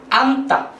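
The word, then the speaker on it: 앉다: জোগ তা বলেছি যে প্রথম যুক্তবর্ণের প্রথম বর্ণমালাটা ন সুতরাং এর উচ্চারণ ন অনুযায়ী হবে সুতরাং এর উচ্চারণ হয়েছে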